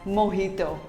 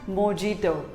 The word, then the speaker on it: mojito: it is pronounced as mohito not mojito simply say mohito the j is pronounced as h to what do you